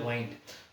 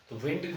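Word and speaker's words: wind: उसकी second form है एक तो होता है डबल आई एनडी विंड और एक होता है वाइंड विंड नहीं है विंड का मतलब आं होता है देखो ये भी एक तरीके का क्या हो गया विंड और वाइंड दोनों का प्रोनंसिएशन अलग अलग है तो ये लेकिन स्पेलिंग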